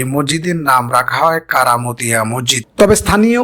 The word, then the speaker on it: কারামতিয়া মসজিদ: অনুসারেই তার প্রতিষ্ঠিত এ মসজিদের নাম রাখা হয় কারামতিয়া মসজিদ তবে স্থানীয় উচ্চারণে কেরামতিয়া মসজিদ নামেই প্রসিদ্ধ ইতিহাস থেকে জানা যায় ভারতের